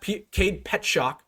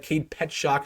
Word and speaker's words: Cade Petschok: You got Cade Petschok. That's how you pronounce his name. I just learned that. Cade Petschok. It's not how it looks.